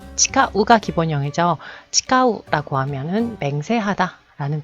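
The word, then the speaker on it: 誓う: 자, 이거 발음 잘못하시면 땡땡 타금으로 발음하게 되면 지가우가 되죠. 아니야, 그거 아니야, 틀렸어. 지가우 라는 표현 굉장히 많이 쓰죠. 자, 지가우, 치카우 다르죠.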